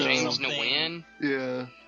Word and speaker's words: Nguyen: And it's actually James Nguyen. That's how you say it.